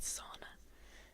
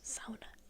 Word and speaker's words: sauna: Thinking knowledge begins and ends with sauna. Fair. We pronounce it sauna in Finnish.